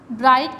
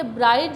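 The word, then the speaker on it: bright: जो आ रहा है ब्राइट के स्पेलिंग में GH जो है वो हमारा साइलेंट है, तो हम साइलेंट GH से पहले जो वो लेटर आ रहा है उसको हम लॉन्ग वावल में प्रोनाउंस करेंगे, ठीक है, याद रहेगा आपको इंशाल्लाह।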